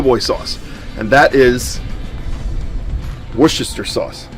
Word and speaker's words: Worcestershire: of the po' boy sauce, and that is Worcestershire sauce. Said it right that time. Worcestershire sauce.